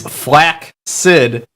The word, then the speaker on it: flaccid: andrew says fun fact flaccid is one of the most commonly mispronounced words in the english language the correct pronunciation is flak sid listen andrew no one